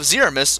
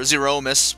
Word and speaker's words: Zeromus: But anyway, so now we have Zeromus, or Zeromus, whatever your pronunciation preference is.